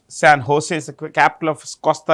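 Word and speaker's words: San José: uh the capital is San Jose if you want the capital San Jose okay see J is pronounced with an H San Jose is the capital of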